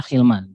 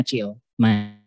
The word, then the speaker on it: Chilman: Sebenarnya pronounce-nya Hilman, tapi emang mungkin beberapa orang susah jadinya Chillman.